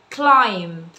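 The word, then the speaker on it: climb: شوية، يقفز جام، يتسلق كلايم. ليه ما نطقتيش البي يا تيتشر؟ عشان في قاعده في الصوتيات بتقول لنا ان حرف البي لو جه بعد الام سايلنت لا ينطق.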